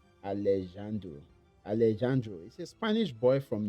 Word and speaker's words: Alejandro: And this is Allesando. I I believe I'm pronouncing his name well. Alleando. Let me look at his name. Alleandu. Alejandro.